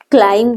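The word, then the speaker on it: climb: प्रथम दे दी वन is done for यू क्लाइम दी पिलाने तो हमने ध्यान दबो क्लाइम जो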